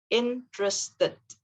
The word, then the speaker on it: interested: that it is correct however if you want to sound like a native speaker it's always best if you just say three syllables interest sorry interested so instead of interested for we actually say it in three syllables interested interested okay so we